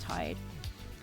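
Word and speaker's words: Tadhg: Yeah, it's spelled it's spelled T A D G H but it's pronounced Tide.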